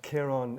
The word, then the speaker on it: Kiron: Um, but Kiron is the is the correct pronunciation. So I do appreciate it's difficult, but um, whatever works, whatever works. Kiron Kon is I've heard I've